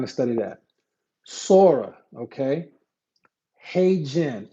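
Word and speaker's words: HeyGen: Hey Jen.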